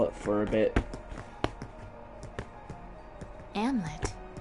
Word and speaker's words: Amleth: Amlet. Why is there an H at the end of his name if you're not going to pronounce it as Amleth?